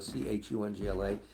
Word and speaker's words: Khyongla: To all other people and all the monks in Dayab, the name of Lama Khyongla, pronounced Chungla, Chungla, is a precious gem in the crown of the Buddhist faith, and you are his reincarnation.